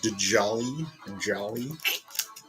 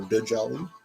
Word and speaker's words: Djali: Esmeralda's goat Djali, or Djali. D is silent, like Django.